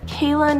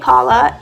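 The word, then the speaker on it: Calla: I think it's supposed to be pronounced Kayla, like the Kala lily, but they thought it was a Kayla lily. Anyway, so people were pronouncing it Kala, and they didn't want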